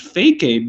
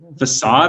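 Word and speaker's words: façade: learned some bad stuff i thought it was pronounced fake aid until i was like 15 maybe facade i think is how you pronounce it like i learned that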